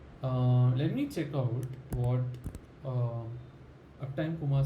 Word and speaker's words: Uptime Kuma: Let me check out what Uptime Kuma says about groups, because I need to understand groups to be able to understand what it really does.